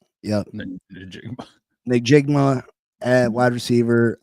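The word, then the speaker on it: Njigba: Najigba? Najigma. Yep. Najigba.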